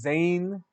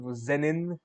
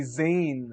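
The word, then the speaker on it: Zen'in: keep forgetting to like pronounce it as Zan instead of zenin it should be Zan it's like a nasal tone to it oh God translation johnry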